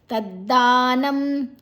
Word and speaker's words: ತದ್ದಾನಂ: ಆಯಬಕ ಅಲ್ಪ ಅನುಸ್ವರದ ಉಚ್ಚಾರಣೆ ತದ್ದಾನಂ ತದ್ದಾನ ದ ದೀರ್ಘ ಅಕ್ಷರ ದಲ ದಾಲ ತದ್ದಾನಂ ನ ಐನಬಕ ಅನುಸ್ವರದ ಉಚ್ಚಾರಣೆ ರಾಜಸಂ ಸ್ಮೃತಂ ರ ದೀರ್ಘ